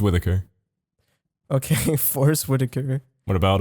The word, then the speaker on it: Whitaker: That's How do it's you actually say that pronounced last Forrest name? Whitaker.